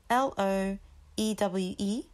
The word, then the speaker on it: Loewe: So it's spelled Loewe, and the way you say it would be loewe, loewe, loewe, loewe, loewe, loewe.